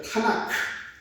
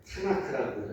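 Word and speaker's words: תנ״ך: K자를 조금 더 하나를 더 붙여서 이렇게 이제 K, 카 이렇게 발음되는데 여기에다가 조금 더 읽기 쉽게 하기 위해서 A자를 하나씩 다 붙여요. 자, 그래서 이름을 어떻게 부르냐면 한번 따라해 보십시오. 타나크. 예. 타나크라고 많이 들어보셨을 거예요. 예, 타나크 이렇게 부릅니다.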